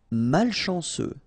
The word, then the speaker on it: malchanceux: Malchanceux, final X not pronounced, CEU, ce, malchanceux, malchanceux.